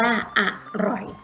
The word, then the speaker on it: อร่อย: เอก ปล่อย อ่าน ว่า อร่อย คำ ว่า อร่อย พยางค์ หลัง ออก เสียง เหมือน มี หอ หีบ นำ เพราะ ฉะนั้น คำ ว่า